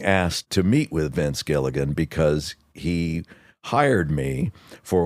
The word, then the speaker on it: Gilligan: written in the credits I'm like that's Gigan right it is Gilligan Gilligan that's what he overcame